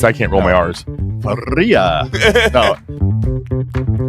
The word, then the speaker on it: Feria: Is it Feria? Is that how you pronounce it? I mean, you can say however you want. It's Feria, you know. Feria. Okay, there you go.